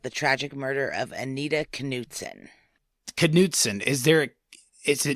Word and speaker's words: Knutson: it yep I know I always thought it was Newton too but it's canson well and given your